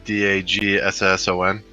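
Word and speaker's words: Daggson: holographic card again it's Arkham daon can you spell it uh d a g s o n dagson Arkham dagson got it yeah that's what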